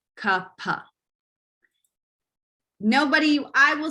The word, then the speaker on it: kapha: going to hear it the correct pronunciation per sanskrit is ka-pa nobody i will say